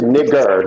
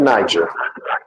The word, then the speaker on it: Niger: It's pronounced nigger, not Niger.